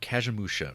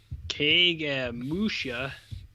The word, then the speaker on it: Kagemusha: Let me look up Kagemusha tagline. That's how you pronounce that, right? It's like Cage Match.